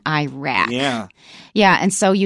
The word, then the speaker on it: Iraq: The educated pronunciation is Iran and Iraq. But my impression is if you listen to soldiers coming back from those areas, they say Iran and Iraq.